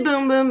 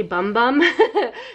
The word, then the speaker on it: Bum Bum: And I am going to say Boom Boom because that is the proper pronunciation. Even though I want to say Bum Bum because it's B-U-M-B-U-M.